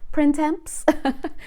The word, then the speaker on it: printemps: who don't speak french you could spell it like print temps printemps p-r-i-n-t e-m-p-s spring so they were saying